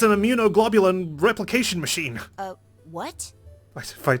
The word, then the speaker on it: immunoglobulin: was there I knew it i G equals immunoglobulin thank you Luna for saying it out loud